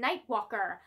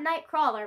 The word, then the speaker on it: Nightwalker: through this month is Batman nightwalker not Nightcrawler Margaret nightwalker I said it wrong in my video of my unboxing I've got this in the